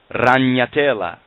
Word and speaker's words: ragnatela: Well, a spider web in Latin is called ragnatela, and that's spelled R-A, ra, G-N-A-T-E-L-A.